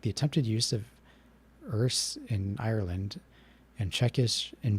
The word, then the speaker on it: Erse: How do you pronounce it then? Or does he just mean the words in the language? It's Erse.